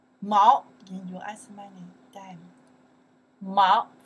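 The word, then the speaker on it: 毛: Okay, the character is pronounced. Mao in U.S.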